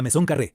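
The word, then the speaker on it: Maison Carrée: La primera obra es la Maison Carré, pronunciada Maison Carré, construida aproximadamente en el año 16 a.C.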